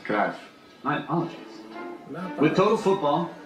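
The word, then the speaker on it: Johan Cruyff: leave no it is Dutch football legend Johann krath it's pronounced craft I apologize with Total Football Johan Klaus that's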